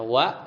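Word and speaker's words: وَ: huruf-huruf jar, atau misalnya huruf wa ya bil fathah bacanya wa ya dengan fathah artinya dan.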